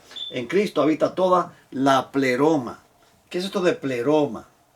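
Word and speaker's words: πλήρωμα: En Cristo habita toda la pleroma. ¿Qué es esto de pleroma? Pléromo, mejor dicho, tiene acento en aquí. Pleroma.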